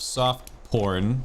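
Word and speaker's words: pourn: by the name of soft porn but it's spelled soft as it sounds p-o-u-r-n uh and he's actually a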